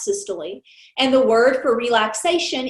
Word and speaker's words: systole: heart contraction is systole it looks like it's systole but it's pronounced systole and the word for relaxation is diastole so